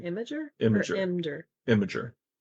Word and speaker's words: Imgur: Imager. It's IMGUR, right? I am Gur, yeah, but I think it's pronounced Imager. Imgur. Imager, because I it's was images.